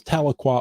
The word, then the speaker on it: Tahlequah: I I know that because we have a Tahlequah here in Washington state as well so it helped me with the pronunciation but this is Tahlequah Oklahoma Cherokee Nation is sharing its Rich history